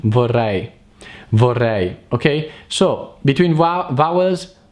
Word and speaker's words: vorrei: a bourree bourree bourree and that's the right pronunciation for I vorrei okay so between Wow vawa's Mary example at